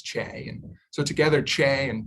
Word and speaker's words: CHE: health and the environment which we often abbreviate as che or pronounces che and so together che